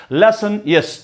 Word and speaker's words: Lassaigne's: It is basically pronounced it as Lassaigne's test.